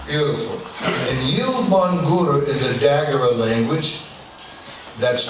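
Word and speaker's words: Yielbongura: And I'm going to spell it so you get a picture. Y-I-E-L-B-O-N-G-U-R-A. Can you say it with me, please? Yilbangura. One more time. Yilbangura. Beautiful. And Yilbangura in the Dagara language, that's the people Malidoma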